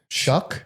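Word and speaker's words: Shough: Shuck.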